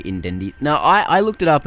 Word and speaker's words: Incendies: I love this one, and it is, I'm going to do the, French pronunciation, Incendies.